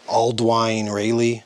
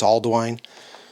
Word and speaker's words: Ealdwine: sort of like it's it's spelled way different but it's sort of spelled or pronounced like Alden but all I've heard I think it's Aldwine but the guy over